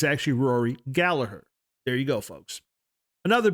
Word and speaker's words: Gallagher: Irish lass, I've learned that the actual correct pronunciation is, in fact, Gallagher. Been saying it wrong for all these years. So, G is silent, it's actually Rory Gallagher.